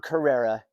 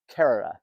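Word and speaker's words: Kerrera: aisle of Kera which I know how to pronounce now because I just did a cruise and it's not Carrera according to the local in this area it's Kera Allen of the wood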